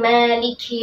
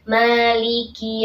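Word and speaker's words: مالك: sekali terjadi kesalahannya hanya perhatikan pada Kaf yang kasroh ini sering terjadi membacanya sukun Maliki Ya Malik Malik Ya karena terburu-buru ya jadi sempurnakan dulu kasrohnya Maliki ya kemudian berikutnya Iya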